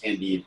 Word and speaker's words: Candide: uh c-a-n-d-i-d candid yeah it's spelled like candid but it's pronounced candy it's french oh okay but they